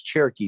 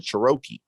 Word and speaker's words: Cherokee: about a jeep cherokee he couldn't pronounce cherokee so he said shiroki and when he said it he looked at me and i said what and i said it's cherokee but keep going and he